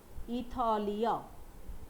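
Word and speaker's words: ایتالیا: এরপরে ইরান, এরপরে আরেকটা দেশ, সেটার নাম ইতালিয়া। ইতালিয়া, ইতালিয়া, আমরা বাংলায় বলি ইটালি, তাই না? ফার্সিতে বলছে ইতালিয়া, ইতালিয়া।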